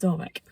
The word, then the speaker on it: Dawyck: uh but again I I'm sure it's pronounced Dock and I think a